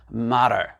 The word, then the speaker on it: matter: Mais le T, ici, étant donné qu'il s'est retrouvé entre deux voyelles, le A et le E, qu'est-ce qui va arriver? Ce qu'on appelle de flap T. Ça va devenir une sorte de D, d'accord? Donc ça va faire matter, matter, d'accord?